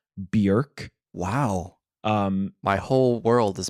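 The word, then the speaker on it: Björk: behind me in saying that it's not pronounced Bjork oh really it's pronounced Bjork Wow my whole world has been turned upside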